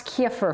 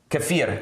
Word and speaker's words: kefir: Pronounce kefir for us. Kefir.